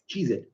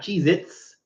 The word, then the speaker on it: Cheez-It: Cheez-It, not Cheez-Its. There's no Z at the end.